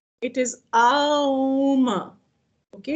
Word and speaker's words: Aum: unfortunately, the corruption of the sound has turned it into Om. It is Aum. Okay, it's Aum. It's a combination of not two but three sounds.